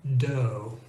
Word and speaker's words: dough: Then we have the sound O, which rhymes with English go. And you see that in words like though, and the related word although, and dough.